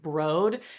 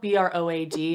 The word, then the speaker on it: Broad: I have the shade broad it's spelled b-r-o-a-d and you would think that it's broad but they named them after LA museums and so this was after the Broad Museum and Tower 28 says